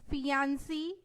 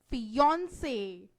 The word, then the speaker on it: fiancé: Seeing its spelling, usually people speak fiancé, fiancé, etc. But actually its correct pronunciation is fiancé.